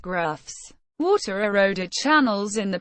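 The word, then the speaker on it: grough: Pete Mand seed by grow pronounced Gruffs water eroded channels in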